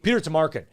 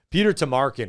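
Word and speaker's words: Peter Tomarken: petar you're you're right your pronunciation is not quite right I think it's Peter Tamarin Peter Tamarin is what it was yeah but but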